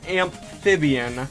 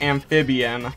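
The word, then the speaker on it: Ampfibian: off we have an amphibian which when i was like saving the image i was like oh it's actually pronounced amphibian like amp is in electricity and i always thought it was amphibian like the water type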